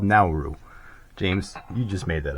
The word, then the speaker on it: Nauru: And it is pronounced Nauru, not Nauru. The NAU is a now.